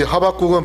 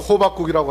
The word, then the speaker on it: 하박국: 이 하박국은 발음 잘못하면 호박국이라고 할 수 있어요.